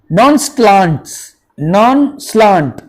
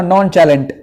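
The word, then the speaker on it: nonchalant: नॉन स्लांट, देखिए कितना अच्छा वर्ड है. कोई इसको बोलेगा नॉन चैलेंट. नॉन स्लांट इज the correct pronunciation.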